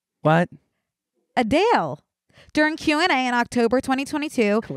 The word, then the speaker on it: Adele: core give me one we've been pronouncing Adele wrong can I guess what the ACT pration is adal no it's adale what adale during Q&A in October